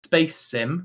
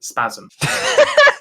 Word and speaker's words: Spasim: He said, naively intended for it to be pronounced Space Sim, but players of the game quickly christened it Spasm.